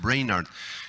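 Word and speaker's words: Brainerd: deivid reinhardt wagner d se escribe en inglés se pronuncian bréyner y a los 20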